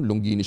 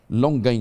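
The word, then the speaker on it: Longines: Ah pa ng pronunciation longinis ako longin pa ng pronunciation non o parang longganisa ba longin longin ayan ah walang s mm sorry naman o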